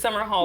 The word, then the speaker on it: Somerhalder: It's Somerhalder.